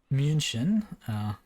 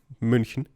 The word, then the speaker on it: München: Lots of good intersections, and München also on the map there, if I can try to pronounce it with the correct phonics, but München.